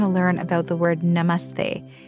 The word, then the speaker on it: namaste: Hi, it's me, Nina, and today we're going to learn about the word namaste. It's not pronounced namaste, it's pronounced namaste, and it's a Sanskrit word that actually means bowing to you or I bow to you.